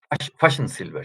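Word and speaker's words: Fajnzylber: Pero me gusta muchísimo esta reflexión que hizo un economista, un gran economista de la CEPAL, Fachsensilber se pronuncia, alemán, de gallo.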